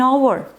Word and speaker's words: hour: क्योंकि एच की आवाज़ नहीं निकल रही, एच साइलेंट है, ओ की आवाज़ निकल रही है, और ओ क्या होता है? वॉवल होता है।